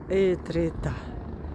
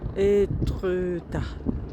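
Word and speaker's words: Étretat: И вот такой замечательный вид на нижний утёс и на город Этрита. Этрета по-французски произносится.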